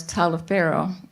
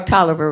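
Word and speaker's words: Taliaferro: Indian agent major Lawrence Tyler Farrell or Toliver rather is how you pronounce that head body brought Harriet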